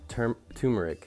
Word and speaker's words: turmeric: Turmeric, some things that are good about turmeric. It's actually pronounced turmeric. I've been calling it turmeric this whole time.